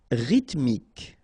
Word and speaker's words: rythmique: Rythmique. Remember, Y pronounced like E and then H doesn't exist.